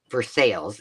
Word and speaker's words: Versailles: So we got to, and then we went to, it's called uh Versailles. You don't say it like Versailles.